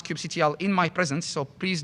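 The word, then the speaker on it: kubectl: yes that's the only way you're allowed to pronounce Cube CTL in my presence so please do not pronounce it Cube control or cube cutle um and you basically can do a port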